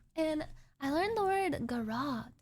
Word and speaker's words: garrote: You can get up behind them and how do you pronounce this word? Garrote? Garate? It's like Garrote.